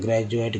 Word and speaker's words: graduate: डी का, तो ग्रेजुएट, क्योंकि सही उच्चारण है ग्रेजुएट, ग्रेजुएशन, यानी डी से ज भी उच्चारण होता है।